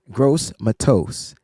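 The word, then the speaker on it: Gross-Matos: right way all right gross Matos not toast people said I said toast but I don't be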